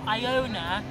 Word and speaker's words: Iona: I know somebody called Iona, so with names like that, for example, Iona is pronounced I, you pronounce the I as an I, whereas because this is an Igbo name, the I is actually pronounced as a E.